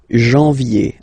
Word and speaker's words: janvier: Janvier, A-N, en, okay? And then ye, janvier.